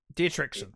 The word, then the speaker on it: Dietrichson: How do you pronounce the name? Is Dirichon the last name of them? I forget the last name. Dietrichson.